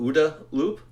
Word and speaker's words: OODA loop: are in this decision cycle described as, it's pronounced, I've heard OODA loop or OODA loop. I call it OODA loop, which means observe, orient, decide, act.